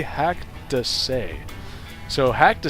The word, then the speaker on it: haCkDeSaix: pronounce it is not hack to sight and is not hacked a sex it is actually hacked to say so hack to say